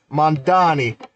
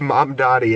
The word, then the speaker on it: Mamdani: It's uh Mandani. Hey M. Hey Manny. Like no it's mom Donnie. It's not that hard. It's mom like your mom Donnie. Like Donnie like mom Donnie.